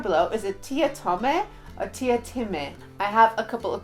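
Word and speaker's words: Teatime: In the book, he then pronounces his name as Tia-Tim-E, but in the movie, his name is Tia-Tame. I'm presuming it's Time, as that's what the book says, but I do also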